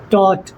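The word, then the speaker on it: taught: टॉट। टी ए यू जी टॉट। Third form भी टॉट ही होता है। एक चीज और यह टॉट में जो जीए एच आया है ये साइलेंट है।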